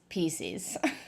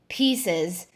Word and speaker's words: Pieces: Reese'S Pee-SEES. You tell me what a PC is, and then we can talk.